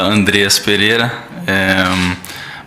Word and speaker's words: Andreas Pereira: uma pergunta que todos querem saber como se pronuncia o seu nome então meu nome fala Andreas Pereira mas eu entendo se falar no início um